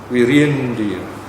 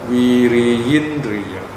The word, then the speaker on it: viriyindriya: I think in this case we have what's called a shwa or swarabhakti, the second I, second vowel, E or I, that's the letter I, is silent. Virindriya. Or if you want to be more exact, viriyindriya.